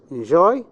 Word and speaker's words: enjoy: Enjoy. Where's the stress? The first one, enjoy. Where do you have it? In the second syllable.